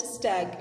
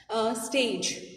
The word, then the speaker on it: stag: A stag, this word is stag, you have to pronounce it stag. It's not stage, right?